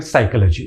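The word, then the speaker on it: psychology: Greek शब्द से और ग्रीक में उसको साइकी पूरा पढ़ा जाता है। उसमें पी भी पढ़ा जाता है। तो ग्रीक भाषा से हमने स्पेलिंग के साथ इस वर्ड को तो ले लिया। लेकिन उसके प्रोनाउंसिएशन में अंग्रेजी में आने के बाद कुछ चेंजेस हो गए क्योंकि पी बोलना अंग्रेजी के साथ बहुत बहुत फ्लुएंटली आप पी का आधे पी का उच्चारण नहीं कर पा रहे थे।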